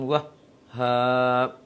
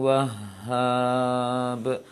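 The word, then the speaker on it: وهّاب: Maka keliru kalau bacanya seperti ini. Innaka antal wahhab. Berarti tertahan suaranya. Sedangkan syiddah adalah rakhawah adalah mengalirkan suara. Seharusnya bacanya innaka antal wahhab.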